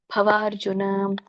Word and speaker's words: ಭವಾರ್ಜುನ: ಇರುವಂತದ್ದು ನಿಸ್ತ್ರೈಗುಣ್ಯೋ ಭವಾರ್ಜುನ ಭವಾರ್ಜುನ ಬ ಅಂತ ಹೇಳಬೇಡಿ ಅಲ್ಲಿ ಕೆಳಗಡೆ ಇದಿರೋದ್ರಿಂದ ದೊಡ್ಡ ಭರೋದ್ರಿಂದ ಭವಾರ್ಜುನ ನೆಕ್ಸ್ಟ್ ಮೂರನೇ ಲೈನ್ಲ್ಲಿ ನಿ